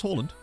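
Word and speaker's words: Haaland: yeah pretty soon his name is pronounce Holland um not Harland because it's two A's which is which is an o sound in Norwegian and other languages like that oh yeah manage first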